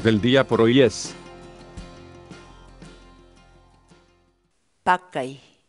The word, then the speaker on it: pakay: de vídeos en la que te enseñamos a pronunciar algunas palabras en quechua así que nuestra palabra del día por hoy es mckay mckay mckay la palabra quechua pad thai en español significa